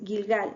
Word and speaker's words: Gilgal: Jericó de jerie ya aquí les puse como se escribe Cómo se dice ya este es gigal la fotito más grande es gilgal ya aquí esta foto está tomada de un